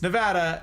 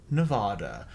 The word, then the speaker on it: Nevada: that weird yes Cal they butcher it all of the time everywhere it's Nevada not Nevada we have a whole